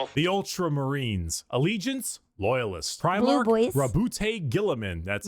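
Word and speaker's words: Guilliman: Primar Gilamin.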